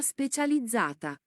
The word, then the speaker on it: specializzata: essere riservata ai veicoli che intendono svoltare corsia specializzata. কোর্সিয়া স্পেশালিজata মানে কি স্পেশাল করছিয়া নাকি আরে বলা রে।